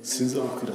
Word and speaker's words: Sinzabakwira: Sinza Okira. D'accord, ça s'écrit comment?